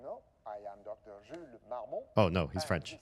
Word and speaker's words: Marmont: He said Marmont, which is, you know, the way you would pronounce it in French.